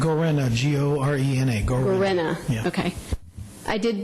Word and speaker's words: Gorena: Could you, because I've heard a lot of different people pronounce. Gorena, G-O-R-E-N-A.